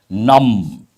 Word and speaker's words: numb: word I've just used num here you have to remember the letter B silent my toes have become numb my fingers have become numb means no sensation the letter B is silent and when you exposed